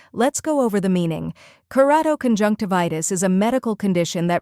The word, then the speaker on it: keratoconjunctivitis: The correct pronunciation is keratoconjunctivitis. First, we have kerato, where ker rhymes with care, is a soft sound, and toe sounds like toe.